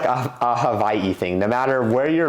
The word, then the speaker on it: Hawaii: Another thing is going to be, instead of pronouncing Hawaii like Hawaii, I'm pronouncing it Hawaii. Because the locals say they pronounce Hawaii with more of a V, like Hawaii.